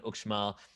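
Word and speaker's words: Uxmal: the yucatan where we stayed in ukmal which is spelled u-x-m-a-l which is an hour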